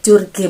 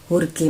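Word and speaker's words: Jorge: uhe Martin hurge Martin Banyak yang bilang atau biasa kalau tulisannya curge mati tetapi itu dibacanya adalah hurge Martin seperti itu baik jadi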